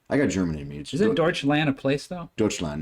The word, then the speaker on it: Deutschland: channel Yep this one was oh gosh Dutch Deutschland is that how you say that that's how you pronounce that's okay I mean my I am